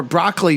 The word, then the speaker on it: Broccoli: though was that he was married to Dana brocoli before or broccoli from what I'm hearing now is actually how you pronounce it before she met cubby oh wow